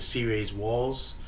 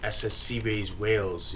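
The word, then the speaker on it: C-Rayz Walz: Instead of saying C-Rays Walls, I said C-Rays Wales.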